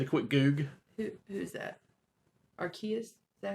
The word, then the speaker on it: Arceus: Arceus? Is that how you say it? Arceus.